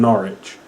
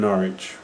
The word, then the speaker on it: Norwich: it's i'm from norwich it's norwich n-o-r-r-i-c-h that's why you say norwich uh yeah um you